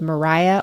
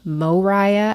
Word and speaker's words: Moriah: also 18-year-old Micah 17-year-old Mariah or Moriah as I say in my head because it's spelled m o r i h of course it is